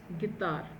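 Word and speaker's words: guitare: एंड it simple गिटर जिसे हम गिटार बोलते हैं टी की साउंड आती है इंग्लिश के अंदर बट यहां पे त की साउंड आने वाली है तो इट्स गतार ठीक है सो अब इसमें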